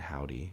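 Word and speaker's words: Hovvdy: of my favorite bands the band howdy spelled with two v's um actually put out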